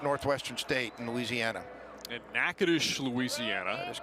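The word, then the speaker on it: Natchitoches: State in Louisiana and Naish Louisiana that is correct probably one of the most mispronounced College city names you'll ever see because the spelling is nothing like the pronunciation no but it is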